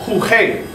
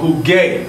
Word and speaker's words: jugué: So if you pronounce that by rules of pronunciation in Spanish, you would have huge, and you miss that whole hard gar sound. So jugar. We want to maintain that hard G.